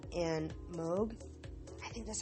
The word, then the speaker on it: Moog: and I can never figure out if I pronounce it correctly. Is it Moog? Meg? M-O-O-G, the synthesizers. If you just pop in his name and Moog, I think that's how you pronounce it, is Moog, yeah.